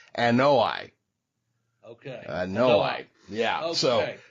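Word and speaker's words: Anoa'i: So according to the website, according to the website I looked up, it's pronounced Anoi.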